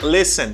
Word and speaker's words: listen: i listen or they they pronounce t no guys do not pronounce t and this word the letter t doesn't pronounce don't say listen say listen listen especially for beginners okay